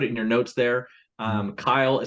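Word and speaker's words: Cyle: Kyle, so it's spelled C-Y-L-E, so spelt a little bit different.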